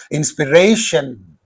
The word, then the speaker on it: inspiration: Whenever the word ends in io n uh you can say the uh stress is placed immediately before this suffix and therefore the uh stress is on this inspiration, examination, determination. So therefore this third syllable receives the stress.